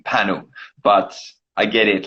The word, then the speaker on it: Panu: So my name is pronounced Panu. Panu. Okay, that makes more sense. Like not. I was thinking like Pan, and I'm like, well, it's probably not.